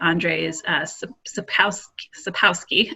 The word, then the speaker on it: Andrzej Sapkowski: So a recent example is I've been devouring the Witcher books by Andrzej Sapkowski, I believe is how you pronounce it.